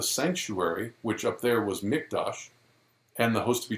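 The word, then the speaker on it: מקדש: the word there it's mikdash and uh if you you know i said with a q but it's actually with a k the way you pronounce it and notice that word mikdash okay well when the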